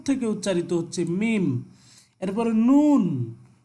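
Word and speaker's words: نون: এরপরে নুন, নুন এটা নাক থেকে উচ্চারিত হয় নুন, ঠিক আছে।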